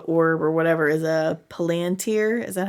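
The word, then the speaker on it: palantír: And that's when we learn that the ball or the orb or whatever is a palantir. Is that how you say it? Palantir?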